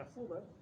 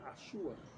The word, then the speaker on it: azuda: Una azuda de origen árabe. Pero como nosotros no pronunciamos la Z, decíamos una asúa. Y luego se quedó en súa.